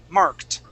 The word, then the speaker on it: marked: the word marked okay that's a t ending marked yeah marked good good